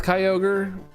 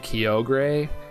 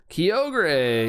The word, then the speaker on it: Kyogre: kind of unfamiliar with Kyogre and so I really didn't know how to say it. I kept calling it Kio and I was like